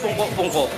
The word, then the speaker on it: pungko-pungko: Okay, pungko-pungko is... Oh, this is how you say it, pag-uupo ka lang. So, you squat, you sit down, just to eat.